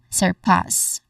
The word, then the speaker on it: surpass: Pronunciation wise of course there are two syllables. First is sir. Sir sir. It sounds like sir but it leans more on the o sound. So sir. Next is pause. again pause which is our stressed syllable here. It has a short a sound and then it ends with a hissing sound.